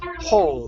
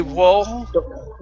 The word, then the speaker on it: whole: Yeah, so the W isn't going to make a sound. It's going to be the H. Whole. Yeah, you won't say whoa.